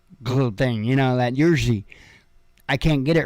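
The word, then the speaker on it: Jiří: the little clicky thingy but his name is pronounced yerzy but i can't i can't do that little thing you know that jersey i can't get it right but anyway i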